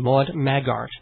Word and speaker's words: Maude Maggart: Should give that website out, and it's Maggart, Maude Maggart. Yes, pronounced beautifully by yourself, Dave, if I do say so.